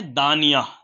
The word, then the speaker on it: دانیہ: ہیں تو رکھ سکتے ہیں۔ اگلا نام ہے دانیہ، دانیہ، دال، الف، نون، یا اور ہا۔ آپ اس کی اسپیلنگ بھی اسکرین پر دیکھ سکتے ہیں۔ سورہ